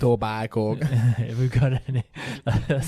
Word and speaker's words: Etobicoke: I don't know if I pronounced that right. Probably not. If we've got any Canadian... It's Etobicoke.